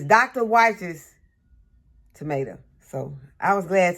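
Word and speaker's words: Wyche: any of the San monano or the Dr wies I had a comment from someone on the channel and they said that their name that was their last name and they said that the right pronunciation is whes so it's Dr Wes tomato so I was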